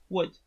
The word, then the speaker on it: would: Because of the first sound, the sound w, wood, okay? The first sound w is like the first sound in huevo, bien?